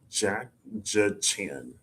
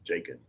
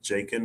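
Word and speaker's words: Jachin: I want to say I want to pronounce the J like a H. Jacken. I know that's not right. I could probably Boaz and Jacen Jacen I'm gonna say Jacen Jacin J A C H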